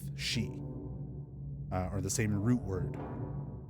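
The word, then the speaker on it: し: 4 is looked at as an unlucky number in Japan because the way 4 is written out and the way that it's pronounced sounds like the same word for death, shi, or the same root word.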